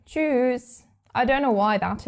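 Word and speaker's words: Tschüss: friends you would say choose but we actually pronounce it a bit longer we tend to say choose I don't know why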